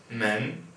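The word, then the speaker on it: 门: lesson um all right this word here is pronounced men right second tone and it's measure word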